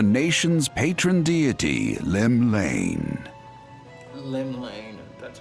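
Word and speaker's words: Llymlaen: Lim Lane, that's how you pronounce it.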